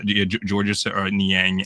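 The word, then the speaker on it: Georges Niang: Dos Borzingis for um Gorgeous I keep on saying his name wrong. Um someone on TikTok made fun of me for for saying gorgeous. Um what was his name was? Um George Niang and I think another second round pick.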